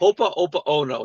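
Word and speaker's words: Hoʻoponopono: Hopa Opa Ono, not Hopa Yoko Ono prayer.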